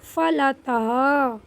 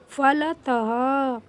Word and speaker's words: फलतः: अच्छा अब यहां पे देखेंगे फलतः फलतः केवल लास्ट में बिंदी है। तो केवल लास्ट में ही ह का थोड़ा सा साउंड आता है।